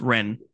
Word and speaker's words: Wren: just pronounced Ren. So Like Wraith, the word Wraith is spelled with a W at the start.